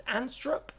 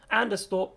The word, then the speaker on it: Anderstorp: I think it's Anstrup, which is the racetrack again. Anderstorp, sorry. I knew my pronunciation was not going to be correct on that.